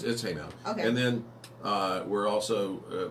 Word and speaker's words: Haymount: Is it Haymount or Haymont? Because I say it wrong, I think. Well, it's Haymount. Okay.